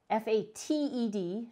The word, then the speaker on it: Fated: casting ability they have another feature called faded f-a-t-e-d not faded f-a-d-e-d-a but fated it is fate